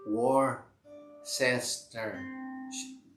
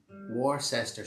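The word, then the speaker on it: Worcester: is the same country it's pronounced war cester war sister shah anita thanks very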